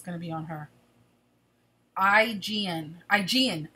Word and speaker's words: Aegean: Aegean, the Aegean, as in the Aegean Sea.